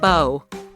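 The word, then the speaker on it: beau: But don't get me started on people using boo to refer to their loved one. The first person to do that most likely just didn't know how to pronounce the French word bow.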